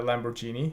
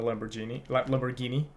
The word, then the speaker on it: Lamborghini: see him driving a Lamborghini. He doesn't own a Lamborghini. Sorry. Um, does he? He doesn't though. Like, No, I was flickering about the pronounced The- G on that one. the yeah. hard G.